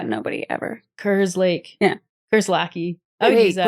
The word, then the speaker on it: Kerslake: it's said just like how it's spelled. Yeah. But nobody ever. Kerslake. Yeah. Kerslake. I would use that. It's fine. Wait, is it Kerslake or Kerslake?